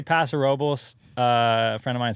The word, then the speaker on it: Paso Robles: in California Paso Robles is that how you pronounce it is that correct you know I say Paso Robles a friend of mine says Paso it's your